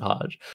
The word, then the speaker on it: Hajj: I can just pronounce it Hajj, but I really need to put emphasis on there being two J's in a row, which is just hilarious.